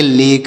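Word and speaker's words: lake: झील तो ऐसे पढ़ेंगे तो यहां पर भी ए का उच्चारण ए की मात्रा हो रहा है और इ का उच्चारण यहां पर नहीं हो रहा है तो इसे पढ़ेंगे लेक एल ए एस टी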